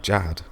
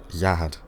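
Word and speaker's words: Zahard: as Leroro says, that's because she is Anak Jahad. Wait, no. Zahad. Okay, so they pronounce it Zahad, right? But in the subtitles spell it as Jahad. I think I'm going to have to call it Zahad from now on.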